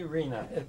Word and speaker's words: Rena: just get this started before we go okay Reena am I pronouncing that right yes yes Reena Rea yeah